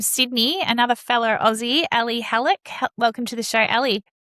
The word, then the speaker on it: Hallak: And today I'm welcoming to the show from Sydney, another fellow Aussie, Ali Hallak.